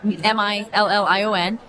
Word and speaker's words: Million: Well, I was just telling a friend of yours how I received this last name, and it's spelled exactly like it sounds like. It's Million.